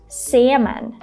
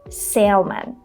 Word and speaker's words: salmon: In this word, the letter L is silent.